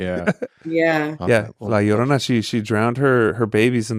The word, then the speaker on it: La Llorona: Sorry, La Llorona. There you go. Oh, we have La Llorona in Mexico too. Scary, yeah. Yeah. Okay, Yeah, well, La Llorona, she drowned her babies in the Rio Grande,